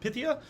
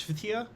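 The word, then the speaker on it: Phthia: I uh and uh fithia p h t h i a four consonants in a row is rude so I just call her pythia I think it's fitia or but it probably has a little bit of a pronunciation to it now I see days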